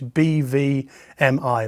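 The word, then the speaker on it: BVMI: Germany is called Well we'd say in English b v m i but in German you pronounce it beer fowl m e and they produce a report every year but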